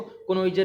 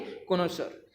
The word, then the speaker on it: connoisseur: जो हमारा कोनोसर होता है, कोनोइजर नहीं होता हमारा, कई बच्चे कहते हैं इसको कोनोइजर है जी, नहीं, इसकी प्रोनाउंसिएशन होती है कोनोसर।